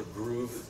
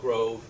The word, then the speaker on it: Grove: That is a challenge in for example, Grove is more groove, I think is how it's pronounced. Groove. As opposed to the American Grove.